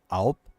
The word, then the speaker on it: Alb: I know the main character, the Jax here, is what they call like an Alp, and it's spelled ALB.